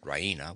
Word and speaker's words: Raina: She pronounces it Raina with the stress on the E.